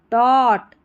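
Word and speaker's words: taught: safe दैट rainy day टॉट इसको टॉट पढ़ेंगे जी H silent रहता है ऐसी स्पेलिंग्स में टॉट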